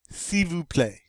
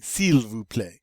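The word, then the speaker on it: s'il vous plaît: play sivu play now this is a little unusual because you see that cs apostrophe il you would think you'd say seal and say silver play but you don't you just say see this case the l gets to be silent why i know it's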